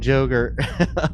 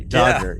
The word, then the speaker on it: Dodger: happened with John and Joger on screen. Oh, Dodger, I bet. Dodger, sorry. Dodger, yeah, that's how you pronounce it. Sorry. He combined Jack and Roger.